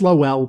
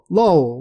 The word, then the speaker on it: Lowell: But whenever the characters seem to pronounce it in the show, they just say like lol, like laugh out loud, lol.